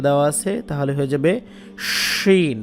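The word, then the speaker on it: شين: এটা হচ্ছে সিন, এটার উপরে যদি তিনটা নোক্তা দিয়ে দেন, এই যে নোক্তা দেওয়া আছে, তাহলে হয়ে যাবে শিন। মুখ ভরে একটা উচ্চারণ হবে, শা শা শব্দ করবে, শিন।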